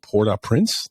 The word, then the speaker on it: Port-au-Prince: Cameron Arnett, who is an award-winning actor in television and film and theater, hailing from Port-Au-Prince.